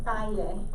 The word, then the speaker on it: pie: It's spelled P-I-E. That's the word for foot. Paye. El paye is your foot in Spanish.